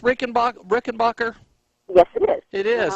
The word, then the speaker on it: Rickenbacher: our our special guest today Colleen is it pronounced Rick and rickenbacher yes it is it is huh and so